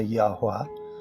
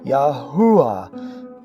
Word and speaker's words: Yahweh: of the U, because this terrible transliteration forces most English speakers to say Yahuwah, which not only sounds awful, but is grammatically incorrect. The name is comprised of 4 vowels, and enunciating a hu in the middle is adding a consonant, and Hebrew rules of grammar dictate that the emphasis is on the final syllable, Yahweh, or, if you choose, Yahweh.